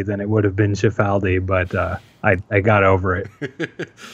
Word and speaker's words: Cifaldi: to lead it okay oh yeah you pronounced it the way that my god what are we like fourth generation italian-american family does but were we in Italy then the proper pronunciation would be gotcha that's what I thought okay I so when I when I visited Italy in my youth and learned that I came back and just tried to sort of change my name by always pronouncing it there's like a year